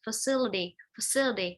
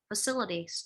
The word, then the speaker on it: facility: Facility, low t không phải là dt đâu, facilities, được chưa nhá?